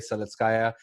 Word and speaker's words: Seletskaja: podium I have a conductor with me Solis kaya welcome to the podcast thank you very much